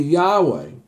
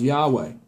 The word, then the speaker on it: Yahweh: Yahweh or y-h -wa which we pronounce Yahweh however it is pronounced in our language we're not really sure all right two things